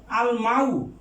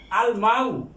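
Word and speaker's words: الماء: তারপরে আছেন আল মাউ, মিম হরফুল কামারিয়া, কাজে লামের উচ্চারিত হবে আল মাউ।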